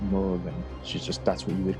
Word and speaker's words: Morrigan: Yeah, they might call her Morrigan. Some people call her Murugan is how it's pronounced.